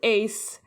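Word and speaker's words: ijs: fact that you can ice cream is pronounced Ace in Dutch ah I named my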